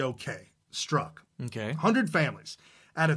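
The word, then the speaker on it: Strzok: in America with the name STR Z okay struck ok hundred families had a 320 million people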